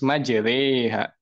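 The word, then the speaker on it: مجراها: menuruti riwayatnya yang sahih Nah kalau riwayatnya Imam Hafiz ya itu bacanya Yang bertajwid itu ya harus majriha Nah itu karena di situ terdapat Imal lah bacaan imalah begitu Pak Doni Ya makasih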